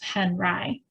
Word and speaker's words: Henri: Henri chose a French spelling for his new last name, but the Americanized pronunciation of Henri.